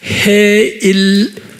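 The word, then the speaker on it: Heylel: 유대말로 제가 지난번에 드렸지만 헤일 H-E-Y 또는 H-E-Y H-Y-L 헤일 그 다음에 L-E-L H-E-Y-L 헤일 Y를 I 발음하면 돼요.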